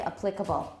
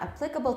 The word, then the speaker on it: applicable: 其实两个说就可以 abdomen 跟 abdomen 都可以都通 The stress is now on the first syllable. The next one, some people still say applicable. This is not applicable to the problem we're talking about.